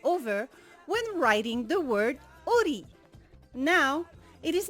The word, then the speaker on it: ʻori: This apostrophe is called eta in Tahitian, and the eta is actually a consonant in the Tahitian alphabet. It is called the glottal occlusive.